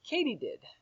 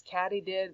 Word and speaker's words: katydid: to say that word it's pronounced katydid I thought maybe it was caddy did this katydid i looked